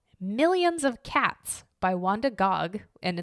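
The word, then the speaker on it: Gág: of cats by Wanda Gog and it's spelled g a a with a little accent over it gig but it's pronounced Gog allegedly this book has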